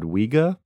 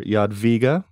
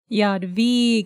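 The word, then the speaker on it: Jadwiga: W in Yad via is pronounced like a v in void which makes sense um so the the official term for people of ears are Yad VGA Yad VGA Yad VGA uh and yeah like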